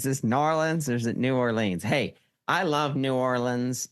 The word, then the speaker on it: New Orleans: see you Todd and I would say New Orleans but I think you're probably right with the locals saying it more like nor norleans norleans is this norleans or is it New Orleans hey I love New